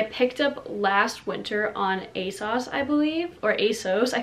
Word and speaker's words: ASOS: up last winter on a sauce i believe or asos i feel like the british youtubers say a sauce and then the americans say asos i don't know um